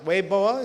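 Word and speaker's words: Weibo: channels as well uh including a weoa account weoa spelled webo but pronounced weoa is the biggest Chinese Network because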